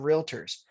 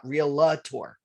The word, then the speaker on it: realtor: it's pronounced realtor not real la tour as some people like to pronounce it they like to stick an a in between the l and the t for some reason so